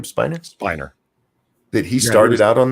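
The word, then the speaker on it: Brent Spiner: And I'd forgot Brett Spinner. How do you say his name? Spiner.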